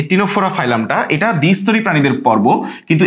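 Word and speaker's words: Ctenophora: আছে এবং হচ্ছে যে টিনোফোর ক্ষেত্রে এরকম হচ্ছে সিটিনোফোরা টিন ফোরা ঠিক আছে এরকম সি দিয়ে এখানে আসলে সাইলেন্ট সি এর মত ল্যাটিনে তোমার হচ্ছে যে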